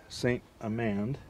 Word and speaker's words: St. Amand: So I'm here with Josh St. Amand.